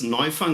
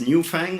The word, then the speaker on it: Neufang: So my name is Neufang, not Newfang or any kind of deformation of that sort. It's probably one of the hardest things that you have to do at Carleton to pronounce that one right, if you actually need